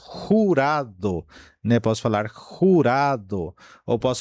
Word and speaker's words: jurado: Por exemplo, posso falar jurado, jurado, né?